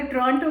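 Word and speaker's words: Toronto: अगर टोरंटो महंगा है ना, मैंने अभी सीखा है टोरंटो को टोरंटो नहीं बोलते हैं, टोरंटो बोलते हैं, बिकॉज टी इज साइलेंट.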